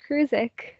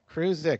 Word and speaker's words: Kurdziel: I'm doing pretty good, but my last name is pronounced Kurdziel. Kurdziel. You know, it's Kurdziel.